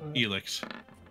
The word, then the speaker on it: Elix: me an Arcana check I said it wrong again elix elix it's all right I'm gonna get it one of these things he looks like Helix right yes okay quandrex elix